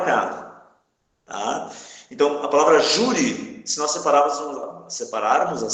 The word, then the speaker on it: júri: Aqui a palavra júri. Se separar as sílabas, fica assim, ó, júri. Ou seja, a sílaba tônica é a penúltima sílaba.